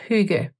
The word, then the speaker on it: hygge: funny but it's pronounced Hugo which makes me think of the German o with the dots over it that's the umlaut is pronounced in very